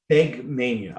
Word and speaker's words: Fegmania: Fegmania, I believe is the way it Fegmania. pronounces it.